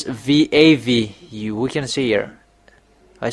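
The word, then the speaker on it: וו: It's really pronounced V. V in vog.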